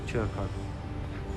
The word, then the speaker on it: Churko: Right, yeah, sorry, it's Stefan Churko. No, you pronounce it Churko? Chur, as in chips. Churko.